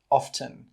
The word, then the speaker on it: often: The next word is 'often' or it can be pronounced 'often'. Both are correct.